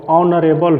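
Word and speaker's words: honourable: यहाँ जो शब्द हैं इसका उच्चारण जो होगा वो ऑनरेबल होगा, इसलिए यहाँ एन का प्रयोग होगा, ए का प्रयोग नहीं होगा।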